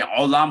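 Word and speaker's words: עולם: of them are words the difference is is that when you say allam with ayan the proper forgotten pronunciation it means universe when you say olam with aleph it means social hall like where you get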